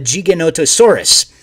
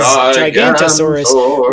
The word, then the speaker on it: Giganotosaurus: He is based off of a South American cousin of the T-Rex called the Giganotosaurus, which is often mispronounced as Gigantosaurus, which actually there's even